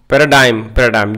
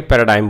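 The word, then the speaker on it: paradigm: The present unrest provides an extra ordinary opportunity, okay, to change the political and administrative पैराडाइम ji silent रहता है। ठीक है। पैराडाइम बोला जाता है इसे।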